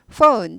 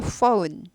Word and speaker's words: phone: 전화기, phone, ph는 f 발음이 나죠. f 발음. 그래서 폰 아니고 phone, o 발음입니다. o 아니고 ou 발음이에요.